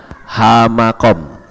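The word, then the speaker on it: המקום: He, mem, kaf, waw, dan mem. Membacanya hamakom. Apa yang disebut hamakom?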